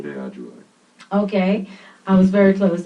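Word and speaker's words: aTunde Adjuah: In 2015, he toured internationally with Grammy-winning trumpeter Christian Scott, Atunde Ajua. Did you guys hear me struggling with Atunde Ajua? Dominic, you have to let me know if I'm pronouncing that correctly. Atunde Ajua.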